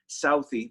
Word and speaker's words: Southie: Every time I say it and I don't spell it, people think selfie Jack, but no. Well, although I take a lot of selfies, I guess, but it's Southie, my neighborhood in Boston. For sure, and we'll also